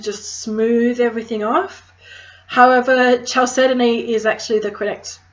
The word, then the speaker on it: chalcedony: However, chalcedony is actually the correct pronunciation for it.